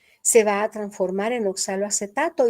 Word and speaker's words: oxaloacetato: Oxalacetato u oxaloacetato, eh, de las dos maneras se le puede llamar. Para mí lo más correcto es oxaloacetato, aunque a veces al pronunciarlo se le va a uno de un solo, ¿verdad? Decir oxal acetato.